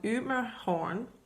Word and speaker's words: Ymerhorn: The name of this, and I'll go through it later with a real Dane's pronunciation, it's called Ymerhorn.